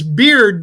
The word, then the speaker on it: Beard: From Kenny, it's Beard, but it's spelled B-E-A-R-Y. No, B-E-A-Y-R-D.